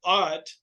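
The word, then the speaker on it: אות: So he said, it's pronounced Ot. I've seen it also, people say A-U-G-H-T, same thing, but Ot, read right to left.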